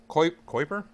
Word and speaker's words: Kuiper: Like Piper, Kuiper.